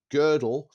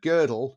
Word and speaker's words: Gödel: that he gave me, and I'll have to pronounce this correctly. It's called Gödel, Escher, Bach.